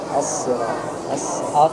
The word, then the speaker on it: الصراط: dia bukan huruf bibir الصراط الصراط الصراط مخرج الصاد والسين من نفس المخرج لكن الذي يختلف الشفاء أن في الصاد يكون الشفاء عادية الصراط لكن في السين يجب أن تكون مبتسم المستقيم سين dan صاد